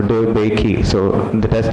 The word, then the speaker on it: DeBakey: DeBakey has 3 syllables, or DeBakey, so that has 3 classes.